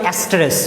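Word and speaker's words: asterisk: জানি না এই বানানটা সঠিক হইল কিনা, বাট উচ্চারণটা হচ্ছে অ্যাস্টেরিস, উচ্চারণটা কি, অ্যাস্টেরিস।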